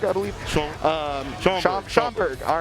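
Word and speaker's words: Schaumburg: They've even got one already set up in, and I'm pretty sure I've been mispronouncing it every single time, but it's Schwamberg, I believe. Schomburg.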